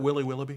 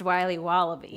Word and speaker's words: Wiley Wallaby: Can I have a piece of that Willy Willoughby? Wally Wibbly. Wiley's Wallabies. Wallaby Wallies. Wilby Wobbaby. It's pronounced Wiley Wallaby. Well, it's very good.